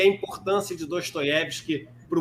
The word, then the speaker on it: Dostoiévski: O, quando ele é átono, ele é pronunciado com um som de A. E a gente tem a semivogal Ye ali do sobrenome Dostoiévski como a sílaba tônica. Daí o Dostoiévski, o Fyodor Dostoiévski. Daí eu falar dessa maneira.